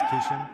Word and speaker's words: Kishan: Glad he said his name out loud, so now I don't, because I forgot to ask to make sure of the pronunciation Yep. before, so now I know it's Kishan.